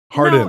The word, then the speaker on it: Hardin: I'm thrilled to be here with non-fiction development producer Hardon. That is how you say your name, right? All these years. I've always wondered. No, it's not hard on Harden.